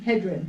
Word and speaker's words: Hedren: Hedren.